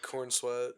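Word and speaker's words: Corenswet: Is that how you pronounce his last name? Yeah, Cornswe.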